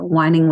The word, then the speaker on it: Wining: our stories so that's whining with nurses podcast is spelled w-i-n-g it's the wine yeah it's the wine not the wine yeah and you can